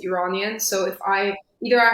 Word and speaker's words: Iranian: yeah, Persian is usually just what I use because sometimes I say Iranian, which is people think of it as Iranian, but like that's not the correct way of saying it. It's Iranian.